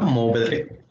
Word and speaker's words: Mourvèdre: Mourvèdre. Ajá, sin pronunciar nada más la E, Mourvèdre, ¿no?